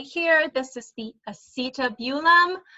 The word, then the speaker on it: acetabulum: And again, this one right here, this is the acetabulum, which is how I usually pronounce it, but a lot of people say acetabulum. Again, however you want to pronounce it is fine with me.